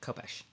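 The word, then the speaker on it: khopesh: I think it's more of a sound if it's kh. That's how um I've heard it pronounced copesh but I know that in anglicizing Arabic words occasion the sound that we don't have in English um um all right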